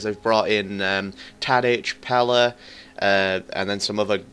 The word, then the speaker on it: Pellè: be gratiano Pella and I've heard that's how they pronounce his name Pella instead of Pelle which everybody has been saying pretty much in in the FIFA Community but I'm pretty sure